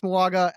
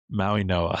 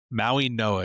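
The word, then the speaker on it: Mauigoa: Maui Noah. It's pronounced with an N instead of a G.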